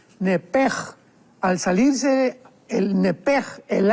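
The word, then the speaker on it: נֶפֶשׁ: porque es la palabra nepesh con sh al final. Neph. En el hebreo se pronuncia eh la sh con j. Entonces, la pronunciación hebrea es nepej.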